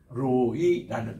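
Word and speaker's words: רֹעִי: 섬기는 그런 말인데이 되는게 로이라는 표입니다 우리 따라다 로이 로이 로할 때에이 이게 R이에요 R 이게 R 바람이기 때문에 L 발음을 하지 마세요 L 발음을로 아니고입니다 로이입니다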